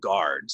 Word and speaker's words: guards: a ton um and guards so this U is is kind of Silent guards guards a flood destroyed the